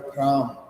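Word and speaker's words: พราหมณ์: इसको ना बोले तो जैसे लिखते समय लिखेंगे ब्राह्मण लेकिन जब उच्चारण करेंगे तो हो जाएगा फ्राम अब फ्रम में ब्राह्मण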